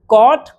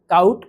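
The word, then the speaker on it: caught: टॉट, टाउट, टाउट नहीं, catch, कॉट, कॉट, काउट, काउट नहीं, बाय, बॉट, बॉट, बाउट, बाउट नहीं, fight, फॉट, फॉट, फाउट, फाउट नहीं। ये भी ध्यान देने वाली बात है कि इसमें UGH सब में साइलेंट है, उसको नहीं पढ़ना है, आपको सही पढ़ना है।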